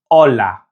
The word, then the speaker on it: hola: And to say hello in Spanish, it's hola. Now remember that the H in Spanish is silent, so the pronunciation is hola.